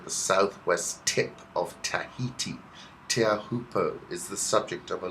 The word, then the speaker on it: Teahupo'o: a local legend and if you think you're saying it right you've got it all wrong tear hooper pronounced chair alpopo or choppers in hip aussie circles is one of the